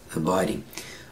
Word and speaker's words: abiding: Abiding. Abiding. Abiding. Abiding. We don't pronounce the d, ding. We say abiding.